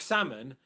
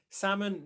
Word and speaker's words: salmon: But the key is with salmon, you just remember that as one word, silent L. Okay, salmon, no L, salmonella.